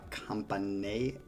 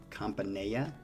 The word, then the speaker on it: Campanella: Variation on, however you say it, La Campanella. I see, again, whenever I see two L's, I think Spanish, and it's not pronounced that way. Campanella?